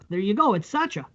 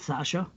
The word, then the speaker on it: Sacha: But His name is Sacha. It's not Sasha.